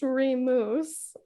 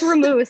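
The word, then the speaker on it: Remus: we recorded the episode it's not pronounced remouse it's ramoos thank you my name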